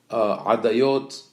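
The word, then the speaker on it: עדיות: This is the way the Sephardim pronounce the name of the tractate. Adayot, that is originally maybe was a plural of the word edut, testimony. So eduyot in plural.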